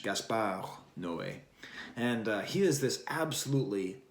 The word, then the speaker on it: Gaspar Noé: You see, Thirst is directed by this guy named Gaspar Noé. I don't know why I pronounce that like it's Spanish. Gaspar Noé.